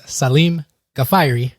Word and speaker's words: Salim Gafayri: you all my guests today his name is Salim gafari how you doing welcome to the show you